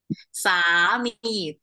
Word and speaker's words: สามี: นะ คะ สามี โอเค สามี both syllable Like Drag the word เนา Like long vow สามี นะ คะ สามี